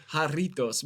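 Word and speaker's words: Jarritos: I will get that I think that's how you say it haritos but uh any you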